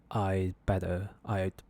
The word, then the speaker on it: I'd better: and you'll realise that this 'd we don't actually pronounce it we will simply just say I'd better, you simply like like